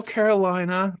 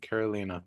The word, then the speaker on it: Carolina: little 41 degrees hello Caroline or is it kolina how do you say the i in your name I'm happy to see you guys there Ena yes okay Carolina very nice welcome welcome